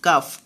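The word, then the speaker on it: calf: এল silent থাকবে। সি এ এল এফ কাফ, কাফ মানে বাছুর।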